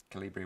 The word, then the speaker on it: Kolibri: battlefield 1 have immediately recognized this as the calibri calibri with a k now this was invented by